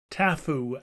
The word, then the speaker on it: taboo: Tangata in this country, taboo, Tafu as here pronounced, and in the other a hog, which had also been made an offering to the divinity.